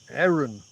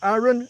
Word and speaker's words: Aron: r o n but he pronounces it with more of an e sound eron not a not not Aaron not Aaron but Marvin